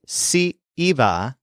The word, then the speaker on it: si iba: And this is actually really tricky to hear because the phrase si iba is pronounced exactly like si va, literally if he or she goes.